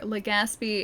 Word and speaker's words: Legaspi: Okay, I gotta remember, Legaspi is the correct pronunciation.